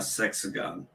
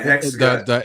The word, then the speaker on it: hexagon: Why is everything here a sexagon? A hexagon? No, a hexagon.